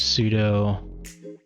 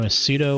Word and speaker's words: sudo: know sudo sudo it's i pronounce the pseudo because that's how i read it although it's short for super user do so you could say sudo if you want um here's a nice